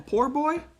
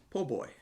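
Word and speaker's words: po' boy: poor poor boy a poor boy poo boy a po boy poor boy that's what it says but it's pronounced po boy poor boy oh boy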